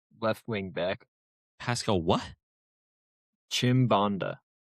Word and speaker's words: Chimbonda: That would be Pascal Chimbonda, What position is this? And who? left wing back. Pascal what? Chimbonda. Spell that, brother.